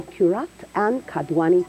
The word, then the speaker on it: Qurrat Ann Kadwani: We now welcome Qurrat Ann Kadwani to the show. Hello. Hello. Was that the correct pronunciation?